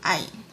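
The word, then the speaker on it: عين: Okay, because there is no letter in the English language that matches with the pronunciation of ayn.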